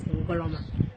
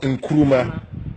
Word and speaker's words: Ngoloma: So the name Ngoloma is not Nkrumah, it's Ngoloma. Ngoloma. Yeah, it's Ngaloma, Ngoloma. And not Nkrumah. Because the white people, they cannot pronounce Ngoloma and they make it Nkrumah as the Asante people pronounce their own.